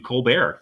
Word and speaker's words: Colbert: though because Steven colar his family name is Colbert College he decided to change his pronunciation to co bear and I remember on the Old Co bear